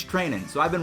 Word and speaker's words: Treinen: to pronounce his name it's not trying and I guess it's training so I've been wrong